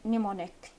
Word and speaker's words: mnemonic: we have n Sound we say mnemonic without pronouncing M and when we uh